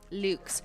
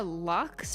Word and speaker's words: luxe: Luke's. Yes, I say it like French because I am French Canadian. Actually, no, I'm not. I'm Anglophone. But I went to French immersion. How do people say it in America? Lux, I think.